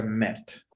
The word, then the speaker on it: met: The second, she had the glasses on before we meet. Recuerda que esta se pronuncia met. Met. Sorry, met. Okay, that's okay.